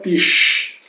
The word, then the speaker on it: Tisch: Então, as letras SCH se pronunciam como quando mandamos calar alguém. Né? Sh, né? Sh, sh, né? Sh. Então, der Tisch.